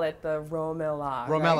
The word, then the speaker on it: RoMeLa: So at Romela, is that how you say it?